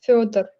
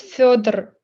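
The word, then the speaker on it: Фёдор: Actually, hey, his real name obviously isn't Fedor, right? He uses Yeah. that because no one can pronounce his name. Can you pronounce it? It's Fyodor. It's Fyodor. Fyodor.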